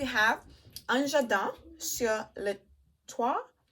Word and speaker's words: Toit: Next we have Un Jardin sur le Toit. I'm gonna say Toit because I think in French they don't pronounce the last letter.